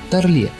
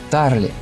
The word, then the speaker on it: Тарле: Как-то на большой лекции в МГИМО его назвали Тарле с таким французским ударением, и он вдруг вскипел: «Я не француз, а еврей, и моя фамилия произносится Тарли».